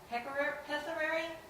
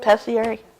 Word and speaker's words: pessary: I have a question concerning the pessary. How do you pronounce that, number 4? Pessiary?